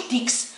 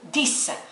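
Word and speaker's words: dix: هادو هنا حتى ولو كاين اكس ولكن ما ننطقوش، ما نقولوش ديكس، نقولو ديس.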